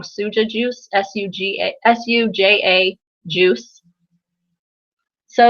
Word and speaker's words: Suja: many of you had have had a academic pronounce it wrong suja juice s-u-g-a-s-u-j-a juice so it's running really fast